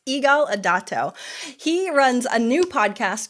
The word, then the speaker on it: Yigal Adato: and today on the show I'm so gonna pronounce her name right it's Eagle idato he runs a new podcast called unlock the